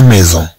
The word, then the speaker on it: maison: Ensuite, on a la maison.